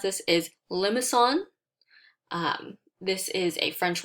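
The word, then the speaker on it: limaçon: a hard c and makes it an s sound so you would pronounce it limison okay so this is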